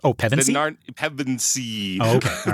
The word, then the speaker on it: Pevensey: Wait, what name can you not pronounce? Oh, Pevensey? Pevensey. Oh, okay. All right. Pevensey.